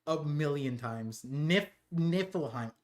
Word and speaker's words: Niflheim: Niflheim. I kept on saying Nilheim in my video.